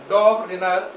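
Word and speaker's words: Döbereiner: है इसको पढ़ना है लेकिन ई को साइलेंट करके जरा पढ़ो क्या पढ़ोगे डॉग ओके अब इसमें इ को छोड़ दो आर आई एन इ आर क्या पढ़ोगे रनर डॉग रनर और इसको क्या पढ़ोगे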